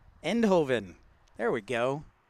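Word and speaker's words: Eindhoven: that's that's Justified hey St Ranger how is inden I can't even say it right end Hoven there we go how you doing this evening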